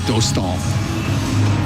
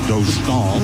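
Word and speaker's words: Dostál: Well, they're going with the more Americanized version. I know the Anaheim broadcasters go with Dostal. Lucas. Right. Yeah. As opposed to Lukáš Dostal.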